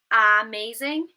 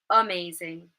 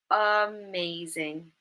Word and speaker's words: amazing: Instead of saying amazing, we might use the schwa at the beginning because it's an unstressed syllable, and we would say amazing, amazing. Okay, I hope that's clear for all of you.